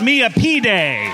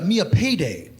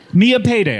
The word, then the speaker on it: Millipede: Uh, my name, of course, pronounced uh, Mia Payday. Mia Payday. I'm so sorry. Is it like the candy bar at the end?